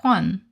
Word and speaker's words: Juan: Yeah, it's pronounced like Juan cuz J is pronounced as an H.